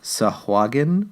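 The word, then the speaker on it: sahuagin: I were essentially trapped by a tribe of sahagun that's how you pronounce it oh well well okay so if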